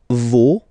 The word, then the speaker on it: vos: Okay, so remember, even if you've got this final s, you don't pronounce it, as it was the case already for this word, no, you don't pronounce the final s, vos, you don't pronounce it, leur.